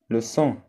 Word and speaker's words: sang: le sang الدم الجي ما كتنطقش.